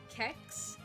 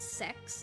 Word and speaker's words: CeX: it's spelled CeX like it's spelled uh kex but they swear up and down that it's pronounced sex so my partner and